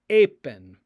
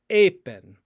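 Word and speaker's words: εἶπεν: and it is pronounced apen, apen. Epsilon, iota are what we call a diphthong here. They are two vowels that make one sound, like a in the word eight, eight.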